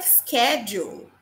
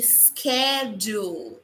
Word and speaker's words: schedule: Schedule. Schedule. Schedule. Ok? Ó. Falei na aula de pronúncia lá sobre o som do t, do ch, que pode às vezes ter o som de k. Por isso, schedule.